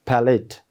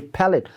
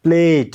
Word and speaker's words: palate: And the last word in this paragraph we have is palate, P-A-L-A-T, palate, not plate, okay?